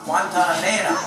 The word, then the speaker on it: Guantanamera: And don't end your syllable on a consonant, end it on the vowel. Guantanamera.